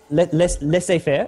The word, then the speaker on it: laissez-faire: Is that even the correct pronunciation? I'm not sure if it is. Yep. Well, the French laissez-faire is the correct pronunciation in the French.